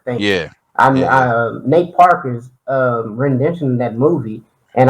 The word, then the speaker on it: Nate Parker: say his name because I know it's not Nat Turner, but the movie was Uh, centered around Nat Turner. His name is Nate Parker.